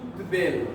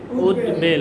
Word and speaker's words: উদ্বেল: উদ্দের এটা হওয়ার কথা কিন্তু ব্যতিক্রমটা হলো উদ বা উদ উদ বা উদ উদ এই উপসর্গের পরে যদি আসে তাহলে ব এর অর্থ ব এর মতই হবে ব এর অর্থ ব এর মতই হবে এটা হবে উদ্বেল উদ্বেল কি হবে উদ্বেল উদ্বেল